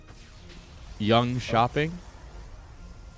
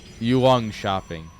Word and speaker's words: Jönköping: Have you ever tried to pronounce Jönköping before? Young shopping? It's not young. You know, it's young shopping. Like, you shopping. Young. Shopping, yeah. You know, we need to get the pronunciation correct, you know? And then you can get it. Yuang shopping. Got it.